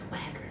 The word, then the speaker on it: Swagher: called SW swager how should we say it Swagger I don't like that I think it should go swagger no I think it's go Swagger so she going to say it quicker and